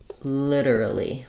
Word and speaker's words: literally: it's a little different British English might be more literally literally in American English we do this like lit literally literally so again this T is flapped just like at the